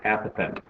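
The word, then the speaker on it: apothem: And you should know that this word in the vocab very important word here is pronounced apath.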